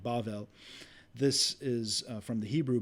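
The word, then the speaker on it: בבל: is itself just a transliteration of the Hebrew word that pronounced I apologize something like bavel this is from the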